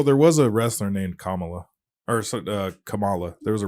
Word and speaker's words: Kamala: know's funny is that Biden called her Camala yeah I did that for like a good maybe three weeks and then I I corrected myself well there was a wrestler named Kamala or Kamala there was